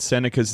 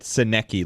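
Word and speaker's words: Sennecke: Brad, how much cooler would Beckett Seneca's name be if it were Beckett Senecki, like it's spelled?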